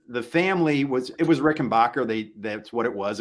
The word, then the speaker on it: Rickenbacker: family was it was Rickenbacker they that's what it was of course it's the German Way of pronouncing it but to distance themselves